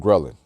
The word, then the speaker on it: ghrelin: secrete a hormone called ghrelin. When you hear the word ghrelin, you hear grrr, almost sounds like growl, right?